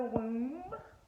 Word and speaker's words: womb: we've got the womb the womb the B is silent um The Mystic